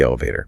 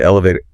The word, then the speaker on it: elevator: And again, listen to elevator. Elevator door. Stress on the first syllable and that T often becomes a flapped key like a D sound.